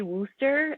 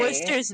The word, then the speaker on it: Wooster: And it's not like Worcester, Mass, where we have it spelled like the old English way. It's literally spelled Wooster. But if you say Worcester, the locals will correct you immediately. It's not Worcester, it's Worcester.